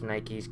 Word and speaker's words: Nike: it like that cuz you're supposed to pronounce the E and I don't really